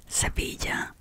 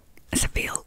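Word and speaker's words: Sevilla: okay Mumbai orto okay Seva or Granada Seville or Granada that's I think that's how um English speaking people pronounce it which is wrong f yeah it's a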